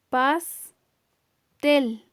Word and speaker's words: pastel: Pastel. Si escuchamos bien, el acento lo tiene en la última sílaba. Esa también entonces se llama palabra aguda porque tiene la mayor fuerza de voz en su última sílaba.